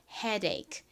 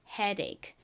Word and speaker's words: headache: 연결해서 headache headache 이렇게 부드럽게 발음해 주셔야 돼요.